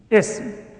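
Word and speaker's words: اسم: A noun in Arabic is known as ism. Notice the pronunciation. The sin has a sukoon. Ism. Ism, not ism.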